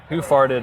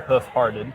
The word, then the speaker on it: Hoof Hearted: be uh for listeners it's spelled h o o f space h e a r t e d so who far hearted or hoof hearted oh you had it right there got it right I'm like damn good